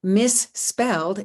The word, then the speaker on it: misspelled: So misspelled is 2 syllables, and you'll notice that the number of morphemes and the number of syllables is not the same, because in the word misspelled, the final suffix is pronounced only as a single speech sound, not as a separate syllable.